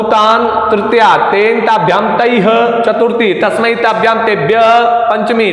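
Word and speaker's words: तैः: तैह, विसर्ग का उच्चारण भी अच्छे से करना है। तैह, तैह, तैह, ध्यान रखें आप।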